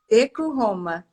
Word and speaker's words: Hideko Honma: Professora Hideko Roma, é assim que pronuncia? Isso, Hideko Roma.